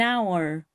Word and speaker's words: hour: An hour. En esta palabra, la H es muda, por lo tanto la O, que es la letra que le sigue, es una vocal.